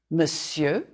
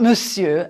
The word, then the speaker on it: monsieur: The S is fine, and the I-E-U-R too. You can draw a line through the R, the R, to remind you not to say it.